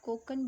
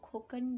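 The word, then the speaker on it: खोखन: जो कोंकण जो wild life sanctuary है, या आपके इसको इंग्लिश में आप कोंकण बोल सकते हैं, वैसे हिंदी में इसको खोकन जो है इसका प्रोनाउंसिएशन होता है।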